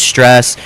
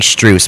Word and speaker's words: Strus: with Moy, Allen, with Stress. Um, you know, or I'm saying his name wrong. I think it's actually Strus.